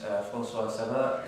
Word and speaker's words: Francois-Cerrah: No, in which case we'll go over to Miss Francois-Cerrah. Is that French pronunciation correct? Perfect.